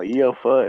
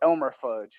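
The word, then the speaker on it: E.L. Fudge: I thought it was like. I called it Elmer fudge. Well, that's what it looks like, right? It looks like Elmer fudge.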